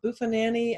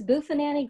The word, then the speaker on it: Buffanani: our prompts and it's i'm gonna mess up the name because i don't think i wrote it down right but mrs buffananny and the prom queen but you say it right this is joanne yes thank you so much it's miss buffanani grondom steals the prom